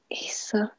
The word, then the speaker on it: Isa: really long time so people have been pronouncing my name wrong uh all my life they assumed it was like Lisa um until a few years ago wait Isa okay you know what